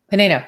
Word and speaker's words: Panaino: I never pronounce it. I don't know if I know. Panaino. Okay. So great. Yeah. All right. So we're here with the amazing Panaino, who works with pangolin, which are some of